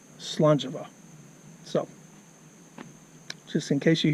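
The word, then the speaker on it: Slàinte mhath: a int e and it was pronounced in both places Salon Java so just in case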